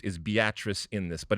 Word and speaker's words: Beatrice: so there's this place called evidently it's called beatrice spelled beatrice all right and yet they they obviously that's the way it's pronounced is beatrice in this but it's a it's a fascinating